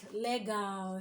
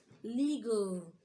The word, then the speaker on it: legal: words a word like Lego shouldn't be late now you should say what legal okay it is legal